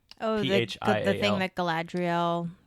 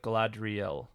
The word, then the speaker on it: Galadriel: Galadriel carries with light in it.